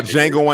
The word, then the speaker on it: Django: were talking about but it's not django unchained the d is silent um we're talking to